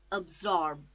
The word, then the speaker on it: absorb: four syllable absence absence absorb two syllables again a zorb absorb the stress is on second syllable zorb and C absorb absorb